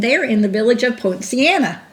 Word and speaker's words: Poinciana: in the village of poinciana that's how you say it point siena poinciana quinceanna that's hard for me